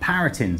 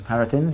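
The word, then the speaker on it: Parintins: First up, Paratins, as I'm reliably informed is pronounced. It is. Paratins, yeah. Paratins, indeed.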